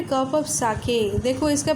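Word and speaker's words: sake: एस ए सा is pronounce like F ए फा इन father. फा जैसे प्रोनाउंस होगा फादर में, वैसे ही सा प्रोनाउंस होगा। एंड के rhymes with way. वे, WAY, वे को जैसे प्रोनाउंस करते हैं के को ऐसे प्रोनाउंस करना है। सो इसका प्रोनाउंसिएशन होगा साके।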